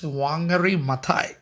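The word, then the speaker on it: Wangari Maathai: ma are we will we say somewhat stylish wangari maai okay wangary maai otherwise but an African typical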